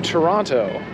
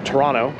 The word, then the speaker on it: Toronto: are heading in to Toronto or Toronto if you're a local you don't pronounce the second T we are going in